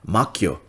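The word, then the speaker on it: 魔境: So they talk about this term in Japanese pronunciation is called makyo.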